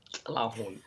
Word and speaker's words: Tilahun: There's not a lot of people that go, hey, you're not, you know, you're Tlaahun, and it's pronounced with the Tlaahun.